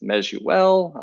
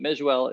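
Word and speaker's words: Miele: Mike me II uh it's pronounced meel um everybody says misil mule whatever I've been called far worse but Mel is is the proper pronunciation of it I was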